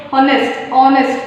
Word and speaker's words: honest: Because though H is a consonant letter, but it gives sounds of a vowel. Observe. Honest, or honest, what you pronounce, that a sound of a O sound you will get.